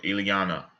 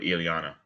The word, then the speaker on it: Ilyana: Ilyana. Okay. Like Iana, but Ilyana.